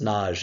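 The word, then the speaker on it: Nagy: limits well hungarians under IM na n a y it's pronounced Naj in Hungarian says look we are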